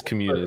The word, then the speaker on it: Communis: Actually, I think it is Communis. Community. It's like a Latin word for community.